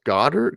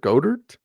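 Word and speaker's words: Goedert: on Twitter Blum that I keep pronouncing Dallas Goddard go dirt Goddard Goddard okay there you go I pronounced it right I actually had a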